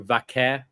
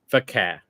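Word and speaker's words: Vaquer: I'm going by the way Mike Rome pronounced it, so Vaqeur. I've heard different variations. I noticed Vic did as well. So I'm wondering, like we heard other people say it the other way.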